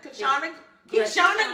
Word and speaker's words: Kyshona: Kishana. Spell it. KYSHONA is in Mary, not Yes. N, because you know I can be a little country family. So it's Kishana.